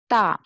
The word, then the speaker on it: 大: In Chinese, 大, D-A, we pronounce it ta.